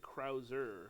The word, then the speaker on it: Krause: says they pronounce it Krauser, which is weird. There's no R in it, but anywho. So here's my dream of Peter Krauser.